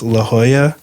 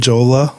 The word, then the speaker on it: La Jolla: just to correct ourselves it's La Jolla not with Jolla or Lajoie yeah so anyway this is